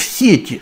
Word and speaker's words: сети: Потому что в сети – это когда говорят, вот он попал в сети. Сети – это множественное число, и вот тогда ударение ставится на первый слог. А если в сети, то есть в какой-то конкретной сети, то, естественно, на последний слог.